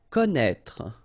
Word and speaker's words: connaître: Connaître, okay, so you get this accent circonflexe on the top of E here, but then, you don't pronounce it, okay, so don't be afraid by this accent circonflexe because you won't pronounce it, and then you will